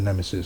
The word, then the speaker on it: Knemesis: IG, Twitter, Snapchat at the Knemesis, and there's a silent K on the Knemesis, so it's THEK Knemesis.